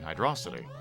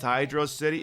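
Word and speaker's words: Hydrocity: City no I mean hydrosity isn't it pronounced Hydro City if it was pronounced Hydro City they' have put a space break between hydro and City I don't give a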